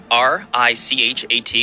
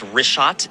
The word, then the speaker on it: Richat: Yeah, the Rishat, R-I-C-H-A-T. It's worth mentioning that. Yeah, in the first couple, I just want to say it's Rishat.